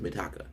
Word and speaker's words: Mitaka: I said that after I read her name, I would start saying it right. But for some reason, I think it's because of Mikasa from Attack on Titan. I want to say Mikasa. Her name is Mitaka.